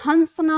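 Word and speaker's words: हँसना: हैं हंसना ठीक है अनुसार यानी कंठ से मुख में और फिर मुख से नाक में हमारी जो ध्वनि जाती है तो इसलिए हमको यहां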